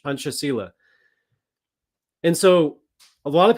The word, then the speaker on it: Pancasila: I believe the C is pronounced as a CH, Pancasila.